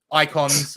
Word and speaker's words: ICON$: in a while with icon dollars um icons I think it's supposed to be pronounced but the S is a dollar sign uh just to cash